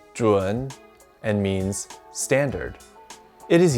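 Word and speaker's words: 准: fly away to warmer climates this character is pronounced juan and means standard it is used in these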